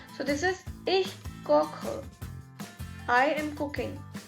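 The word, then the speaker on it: koche: as i told you this e is pronounced as uh in the end so this is ich kokher i am cooking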